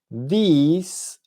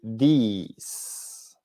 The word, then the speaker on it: these: La diferencia en la pronunciación es que uno es con i corta y el otro es con i larga. Entonces decimos this y these, that y those.